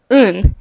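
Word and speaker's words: 運: to be lucky since the word for luck un is pronounced the same as excrement a lot of other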